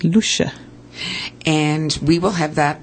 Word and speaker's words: Loesje: way uh l o e SJ e it's pronounced Lua in Dutch it's Lua and we will have that on our website